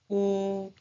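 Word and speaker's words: ㅜ: Okay, the next one is oo, oo, oo. The pronunciation is oo, oo, oo, oo, oo, oo, oo, oo.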